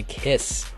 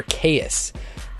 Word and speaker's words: Kaees: In this video we're going to be talking about the Landmark Sub-Ohm Clearomizer Tank by Kaees, or Kaees. They said to pronounce it like Kiss.